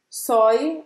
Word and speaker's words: soi: se pronuncia isso roberto soi soi a sorte não não sua sua sua sua então é o som do s e simplesmente o som do oi em francês eo a gente tem